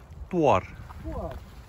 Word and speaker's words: Thorn: Hoe spreek je het uit, mensen? Toar.